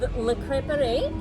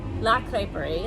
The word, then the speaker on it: La Crêperie: So Le Crêperie is coming. La Crêperie, it's feminine, not masculine.